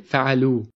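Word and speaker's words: فعلوا: Even though alif is added in writing, we actually do not pronounce it. So we say fa'alu.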